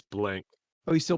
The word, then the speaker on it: Blanc: of mel blanc um isn't it blanc it is a c yes it's blank oh he still pronounces